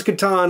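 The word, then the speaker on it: Catan: my case for that yes it's pronounced pronounce katan i refuse i refuse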